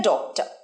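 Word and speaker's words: doctor: he wanted to বি ডক্টর he wanted to বি ডক্টর বলো আমার সাথে he wanted to বি ডক্টর he wanted to বি ডক্টর right দেখেছো ডক্টরের আমি রটা কিন্তু উচ্চারণ করলাম না স্মার্ট ভাবে হি ওয়ান্টেড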